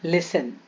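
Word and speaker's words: listen: के अंतिम अक्षर में टीई एन हो तो प्रायरिटी साइलेंट हो जाता जैसे लिसन देखो ये स्पेलिंग तो लिसन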